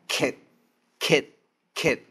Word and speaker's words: 戛: 再过来，下面这个字念成 cat，哈，轻轻的敲击。